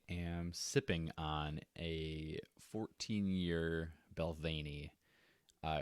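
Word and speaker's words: Balvenie: to try it out pronounced balvany yeah it's belvani i've been calling it like balvini this whole time that's fine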